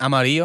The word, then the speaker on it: amarillo: Well, both of those sound like a Y. Llena, and amarillo. No, but it's a double L. The way you spell it. Yeah. So they're both double L's, and they both do the Y sound, right?